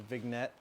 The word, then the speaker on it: vignette: The vignette, vignette, vignette. The G is silent.